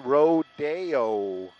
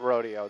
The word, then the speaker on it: Rodeo: we do something else pronounced Roadeo it's not that rodeo this is rodeo that Roadeo is up in the BH I knew you were